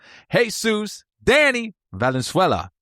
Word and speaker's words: Jesus Danny Valenzuela: Please welcome to the show, Jesus Danny Valenzuela.